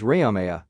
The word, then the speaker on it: Rama: minds and words, using the mantram Rama, pronounced as Rayamaya. Ra is masculine, Ma is feminine.